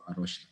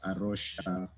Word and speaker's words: Rocha: Yeah, I work in Kenya for Rocha, Kenya. And just a brief about Rocha, it's written Rocha, but it's pronounced Rocha.